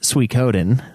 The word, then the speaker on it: Suikoden: while ago yeah also Suikoden is pronounced Suikoden i'm sure you'll get